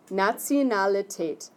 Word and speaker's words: Nationalität: Nationalität. Nationalität. Okay? So, let's write a pronunciation guide for that word.